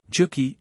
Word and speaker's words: Juki: Juki, in Norse, would be pronounced Juki, which would readily become Jack, and Bil, for the